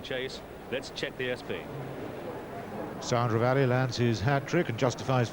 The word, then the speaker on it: Sound Reveille: How is this horse pronounced? Sandra Valley, but I don't think they speak much French in Australia, do they?